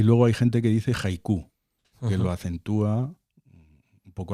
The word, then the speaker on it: haiku: O haiku. Haiku. Yo creo que es haiku porque de hecho a veces se escribe con J.